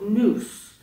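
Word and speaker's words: nous: be accessed only by an enigmatic faculty called news end quote and news is spelled n-o-u-s for the listeners uh before we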